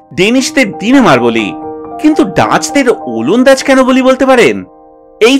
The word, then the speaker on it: ওলন্দাজ: অবশ্য ফরাসিরা উচ্চারণ করত ওলন্দেজ, আর সেই ফরাসি উচ্চারণ শুনেই বাঙালিরা বলতে শুরু করলো ওলন্দাজ।